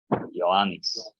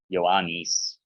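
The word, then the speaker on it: Ἰωάννης: Onoma afto, the name for him, his name, Ioannis. It's an ida at the end, E, Ioannis.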